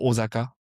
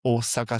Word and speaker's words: Osaka: Osaka euh les français disent souvent Osaka mais en fait ça se prononce Osaka, c'est de S.